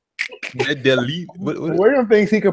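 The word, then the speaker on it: Medellín: Medallion, Colombia. No, it's not Medallion. Don't be an American. William thinks he can pronounce everything, doesn't he? What's it called? Medellin.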